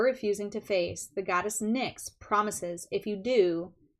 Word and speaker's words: Nyx: an alignment task from the goddess nix i'll let you look at her she is and why x is how you spell it i know it's it's